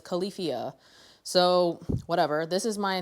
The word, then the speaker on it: Califia: It's pronounced Califia. I thought it was Khalifa, but it's Califia.